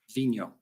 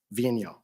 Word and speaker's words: Vigneault: We've all been debating about how to pronounce it properly. Vigno. Vigno, all right.